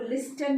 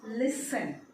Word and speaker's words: listen: तो इस वर्ड में साइलेंट लेटर टी है. तो लिस्टन नहीं बोलना है, दिस इज लिसन.